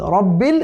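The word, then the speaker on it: رَبِّ: রব্বিল, র অনেকে পড়ে কিন্তু রাব্বিল, রাব্বিল পড়া যাবে না, খবরদার। এখানে রয়ের দুটি হুকুম আছে, একটি হচ্ছে তাফখীম আর একটি হচ্ছে তারকিক। তো আমাদেরকে এখানে র কিন্তু এখানে তাফখীম হবে, মোটা হবে, কেমন?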